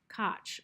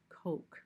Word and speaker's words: Koch: start doing this okay Koch or perhaps the guys name is pronounced Koch it's probably pronounced Koch okay this guy was